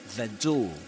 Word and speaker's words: door: the door and you don't pronounce the letter R at the end of door. That's a silent letter in Luke's in Luke Thompson's accent, Southern Standard British English. You don't say door, the door. The door. That's in American English and other accents as well.